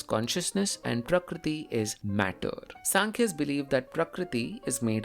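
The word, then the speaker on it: Sāṃkhya: Sankhya is Sankhya. It's Sankhya, but it's spelled S-A-M.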